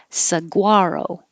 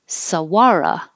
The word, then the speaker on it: saguaro: and this i learned i'd only heard it as the first way saguaro but we looked it up and found out sawara it's also possible sawara or the first one saguaro context you have a